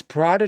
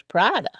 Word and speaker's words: Prada: It's Prada, it's not Prada? No, Prada.